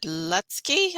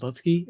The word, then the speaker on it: Lutzke: And today our guest is Chad Lutzke. I hope I pronounced that right.